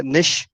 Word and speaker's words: niche: आगे आपके स्क्रीन पे जो वर्ड दिख रहा है निश, इसको निश प्रोनाउंस करते हैं, NICHE। इसको निश बोलते हैं।